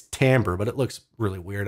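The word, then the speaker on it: timbre: I didn't even know how to pronounce tamber until like two or three years ago it's not Timber it's tamber but it looks really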